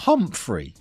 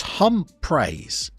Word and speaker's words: Humphreys: Oh my goodness, he's not Humphrey. He's Humpraise. I've been saying his name wrong.